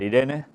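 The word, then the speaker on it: εἰρήνη: palabra que aquí tenéis, eirene. Es en griego, ya sabéis que se puede pronunciar Irene, y que es un nombre femenino.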